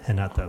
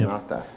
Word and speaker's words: Renata: You write it Renata, but you pronounce it Renata because she's from Renata. Brazil. Oh, the R is like a H, Yep. huh? Yep. Renata.